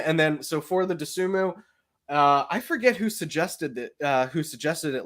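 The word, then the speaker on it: Dosunmu: How you pronounce that? Desunmu.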